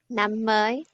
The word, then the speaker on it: Năm mới: Năm mới.